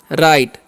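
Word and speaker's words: right: Santos बना सकते हैं आर आई जी एसटी है तो आर कान र करते हैं आई काचन यहां पर आई होता है जी जो है यहां पर साइलेंट होता है टी से ट होता है तो हो गया राइट राइट का मतलब होता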